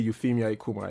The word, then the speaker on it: Euphemia Ikuma: your passport is probably Euphemia Ikuma, yes? Is that how it's pronounced? Did I get it right? Yes, you got it right.